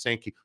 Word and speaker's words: Sankey: Very interesting timing that Greg Sankey, the commissioner of the SEC, and it's actually pronounced Sankey.